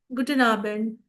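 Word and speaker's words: Guten Abend: मान लो अगर आप इवनिंग में मिल रहे हो तो हम उसे विश करेंगे गुडन आबेंड.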